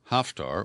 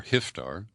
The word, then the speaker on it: Haftar: For example, in Libya, General Khalifa Haftar, or Hiftar, it's spelled either with an A or an I, he had to retreat